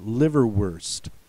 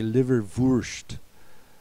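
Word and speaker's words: Leberwurst: that have been Americanized the w sounds like a w this is liver worst uh the Germans are going to say liver ver in fact they're going to emphasize the u sound as opposed to us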